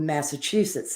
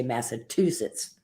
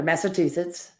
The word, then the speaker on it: Massachusetts: but it's it's it's an easy word to learn to say when you break it down phonetically but I've known people like with Massachusetts they have trouble saying it they say Massachusetts and I would say can you say achoo like mimicking a sneeze and then yes I